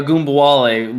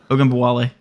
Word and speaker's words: Ogunbowale: But he could say a Goombawale like nothing, huh? Yeah. Yeah. All right. You mispronounced it, but it's all good. It's all good. Oh, wow. Ogunbowale.